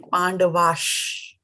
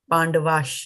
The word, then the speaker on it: पाण्डवाश्: Again, Pandavash. It's a sha, right? Pandavash. You see the half sha is here in the Hindi, and here S with a bar of accent on it.